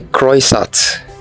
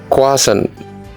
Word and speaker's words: croissant: Do you say croissant? It is wrong. It is croissant.